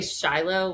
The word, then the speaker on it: Shiloh: We say Shiloh when we're in the US and Shilo when we're in Israel.